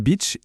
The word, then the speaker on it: Bich: Et il a très vite compris qu'à l'international, son nom de famille, Bich, prononcé avec un accent anglais, ça sonne un peu comme une insulte assez connue.